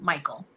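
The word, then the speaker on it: Mychol: But still pronounced Michael.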